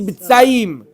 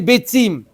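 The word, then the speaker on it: ביצים: Mais il a mal prononcé Betzim, il a dit Betsaim. Betsaim, c'est un marécage. Des œufs, c'est Betzim.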